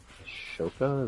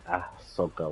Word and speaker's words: Ahsoka: for now I think that's how her name is spelled to give me if I did that wrong Ashoka is that right oh it's Ahsoka whatever um so tomorrow we'll finish in a